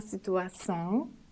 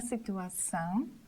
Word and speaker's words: situação: Letter O situated at the end of termination on, são, should be said nasally with the whole termination. For example, a situação, a situação, a solução, a solução.